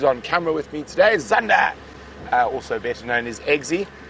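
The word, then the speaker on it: Xander: camera with me today, Zander, also better known as Eggsy. And his, I don't know how James quite got to it, but Zander's obviously spelled with an X, and is a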